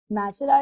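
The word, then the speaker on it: Nasra: सबसे पहले मेरा नाम सही तुम लोग प्रोनाउंस करना। वो गलत मत प्रोनाउंस करना। मुझे वो दुख देता है। नासरा इज माय नेम।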